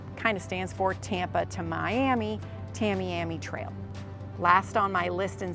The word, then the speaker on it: Tamiami Trail: Another commonly mispronounced road is Tamiami Trail.